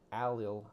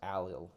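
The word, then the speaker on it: allyl: What we call an alil iodide. That's spelled A L L Y L.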